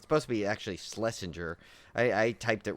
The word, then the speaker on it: Schlesinger: supposed to be actually schlesinger i i typed it wrong on the other thing but it's schlesinger but he doesn't like when people call him slessinger because um you know